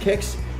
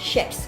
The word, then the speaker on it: Kex: rather, this is essentially a reason of civil war in Sweden, because half the population say it's pronounced kex. The other claims it's pronounced ships.